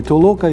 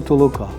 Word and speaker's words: толока: сум словник української мови фіксує слово толока з двома наголосами і толока і толока і знову кваліфікує його